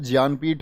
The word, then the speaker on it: ज्ञानपीठ: अगर ज्ञानपीठ का सही उच्चारण मैं करूं तो वो दरअसल में ज्ञानपीठ होता है, क्योंकि मैं आपको हिंदी की क्लास में भी बताया था मैंने कि ज्ञान कोई शब्द नहीं होता है, शब्द होता है ज्ञान।